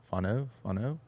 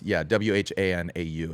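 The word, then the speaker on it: whānau: Fano. I butcher it, but it's WHANAU. It's Māori.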